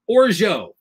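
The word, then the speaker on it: orgeat: Orgeau. or got or gate, depending on how you want to pronounce it, depending on where you are. It's actually orgeau.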